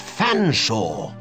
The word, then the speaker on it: Fanshaw: I don't believe you cannot pronounce my name properly it's Fanshaw but it it's a talking cat sir it speaks English it's hardly talking English of a comprar nounce one's name it's perfectly simple F silent E a